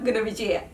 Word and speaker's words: Gunawijeya: Um, Sri Lankan names are really beautiful and huge, but why are they so difficult to pronounce? I finally mastered um calling you out. It's Solange Christina Gavijia.